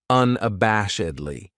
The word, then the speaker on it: unabashedly: This adverb has five syllables and the stress is on that third syllable that bash unabashedly. That second syllable has that schwa, that uh sound unabashedly.